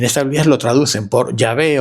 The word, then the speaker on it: Yahvé: Entonces ese tetragama se pronuncia como Yahvé, pero quiero decir, no